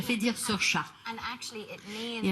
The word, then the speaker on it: Saoirse: It's Saoirse with an R, not Sarcy with an R, cause Sarcy with an R goes or not R. It's sh instead of s, instead of E, simple as can be, see Saoirse.